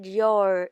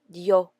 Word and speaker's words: Dior: Christian Dior in English, and Taiwanese people call it Dior. In French, it is Christian Dior.